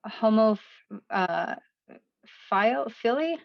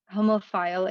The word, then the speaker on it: homophile: has a question is homo philly i think i'm pronouncing that wrong yeah homophile a broadly accepted term for